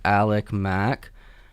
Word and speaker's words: Alickmac: That was Alick Mac.